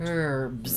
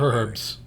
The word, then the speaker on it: herbs: Herbs. No, not Herbs. With an H, which you know you were in the UK. Herbs with an H. Proper way to say it.